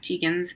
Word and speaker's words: Tietgens: The real spelling of Teegins is Tietgens.